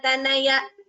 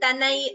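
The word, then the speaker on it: तनय: Like I said, each letter should be pronounced completely, as in Pishita Ruchi Vihita Durita Valamathana Tanaya. Instead of Valamathana Tanai, we don't say Tanai, we say Tanaya.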